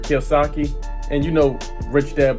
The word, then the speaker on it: Kiyosaki: muck over there and yes I did say his name wrong it is Robert Kiyosaki and You Know Rich